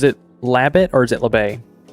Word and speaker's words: Labatt: Is it Labatt or is it LaBay? Labatt Blue.